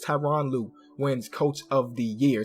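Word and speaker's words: Tyronn Lue: And Tyrone Louu or Tyron Lou is how I pronounce it. A lot of people say Tyrone. It's Tyron Lou wins coach of the year.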